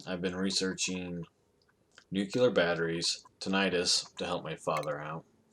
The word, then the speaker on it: tinnitus: Well, I've been researching nuclear batteries, tinnitus to help my father out. Or, yeah, tinnitus is a way to pronounce it. Not tetanus, but tinnitus or I don't know what the other way to say it.